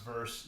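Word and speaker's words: VRSE: the other one is vrs E I think it's just pronounced verse they have a bunch of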